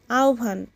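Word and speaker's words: আহ্বান: আহবান। উচ্চারণ আহবান। আর বানান হচ্ছে সরেয়া। হয় বয় আকার দন্তন। সম্মোধন আহবান।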